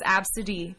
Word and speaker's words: Abcde: Absidy, by the way, is ABCDE. That's how you spell that name. Yeah. It's pronounced That's, Absidy.